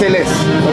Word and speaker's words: Ellesse: It's Ellesse, okay?